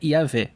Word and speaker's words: Yahweh: da palavra YHWH, e muitos estudiosos entendem que a pronúncia correta, ou pelo menos a mais próxima da correta, seria Yahvé.